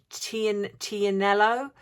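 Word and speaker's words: Tignanello: The G is silent, and it's pronounced, I think, Tianello. So it's not even, doesn't sound anything like the Tig.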